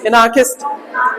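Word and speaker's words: anarchist: तो एना, और देखो आर साइलेंट रहेगी, एनार, हल्की आर बोली जाएगी, एनार, एनार्कस, ई की साउंड भी दे सकते हो, एनार्किस्ट, एनार, एनार्किस्ट, एनार्किस्ट बोलो, एनार्किस्ट।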